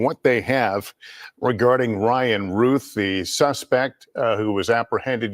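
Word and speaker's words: Routh: more time for the record how do you pronounce his last name sheriff is it Ruth or Ralph I've heard both I say Ralph all right that news conference now breaking up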